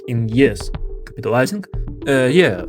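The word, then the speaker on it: Й: And you remember it's pronounced E in Ukrainian, right? The happiest letter in the alphabet. It literally comes with a smile. It's pronounced Y. Y or Yot.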